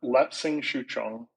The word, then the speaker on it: Lapsang Souchong: cannot for the life of me pronounce it. Can you say it and spell Yeah, it? yeah. It's Lapsang Souchong.